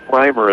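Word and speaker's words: Rimer: my head set I like wearing Heros Jake Rymer is the pronunciation of his name r i m e r did I say reer no I've been I've been saying I've been saying Ramer all night because I have a relative uh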